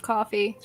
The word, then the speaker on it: Ko-fi: I forget that it's technically pronounced coffee. Yeah. It just feels it might weird be saying Kofi.